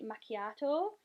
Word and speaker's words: macchiato: the shade zero three macchiato like yatto yeah that's how you pronounce it and it just looks